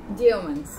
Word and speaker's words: Yeomans: Doña Gael Yeomans. Sí. ¿Lo pronuncié bien? Algo. A ver, dígalo usted. Yeomans.